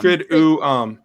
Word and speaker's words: Triduum: Triduum. Yeah, Triduum. Tritium. Just 2 U's. 2 U's. Triduum. Like vacuum cleaner.